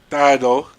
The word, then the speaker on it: Dido: my bad on the pronunciation. Yeah, Dido.